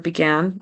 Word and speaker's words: began: goose began to Tire his vow in the word began it sounds like begin it sound like an a short I instead of a short a so he needs to make sure it's began began to Tire past tense